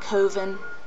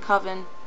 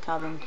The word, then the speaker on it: coven: power um a coven I've heard people call it koven I've always pronounced it coven everybody that I've ever met has pronounced it coven so you can usually